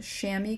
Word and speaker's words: chamois: You can buy a specific thing just for smudging, which is called a chamois cloth, but that's chamois spelled C-H-A-M-O-I.